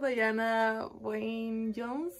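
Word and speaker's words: Diana Wynne Jones: libro es el castillo en el aire por Dayana Wayne Jones se pronuncia así también es algo que Quiero leer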